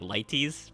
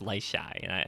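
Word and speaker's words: Leitis: I thought it was like Lighties, but no, it's apparently it's Lyshai, and I like that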